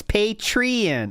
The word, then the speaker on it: Patreon: in the house says you've been saying it wrong it's patrion oh yeah P give